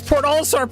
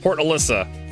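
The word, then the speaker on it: Port Olisar: They can't even pronounce Port Allar properly. I'm sorry. How did you pronounce that? Alyssa. Alyssa. Port Alyssa.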